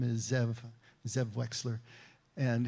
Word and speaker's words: Zev: They're based in Alexandria, West Virginia, and the owner, the head honcho, his name is Zev Wexler, and his name in Hebrew would actually be pronounced Ze'ev, and it means wolf, and he's very proud of that.